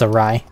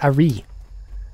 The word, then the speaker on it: awry: I think it's a rye. I've also heard a re, which I don't think is right. I would kill you if you said a re.